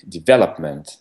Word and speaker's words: development: But in English, it's going to be the development. Exactly, so we need to stress the second syllable.